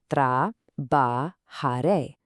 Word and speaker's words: trabajaré: Let's sound this one out carefully, watching that J which actually sounds like a soft English H. Tra ba ha re.